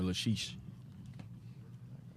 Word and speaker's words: Lachish: Yes, sir, Lachish.